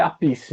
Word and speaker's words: Appice: É Appice que fala ou tem outra pronúncia? Segundo os especialistas, é a Peace mesmo. Appice.